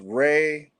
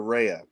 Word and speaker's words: Rea: could say um rehea it it can be pronounced Reay or Ria I go by I go by Ray or rehea oh okay there you go there you go